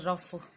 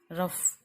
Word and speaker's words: rough: और कई बार जो GH है ना, इससे फ का उच्चारण भी आ जाता है, जैसे रफ, इसका उच्चारण फल से भी आ जाता है कई बार, ठीक है, जैसे ROUGH रफ, है ना।